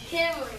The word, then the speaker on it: Cameron: You said sometimes I don't say it right, but what is it? Cameron. Everybody say Cameron.